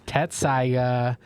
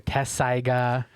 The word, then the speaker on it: Tessaiga: But your pick right now is Tetsaiga or Tessaiga, however you want to pronounce it, from Inuyasha, the titular